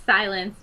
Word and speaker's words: Zilenz: It's spelled Zilenz. Z-E, yeah. Mm-hmm. Yeah, so it's spelled a little different, but it's Silence, but spelled with Z's.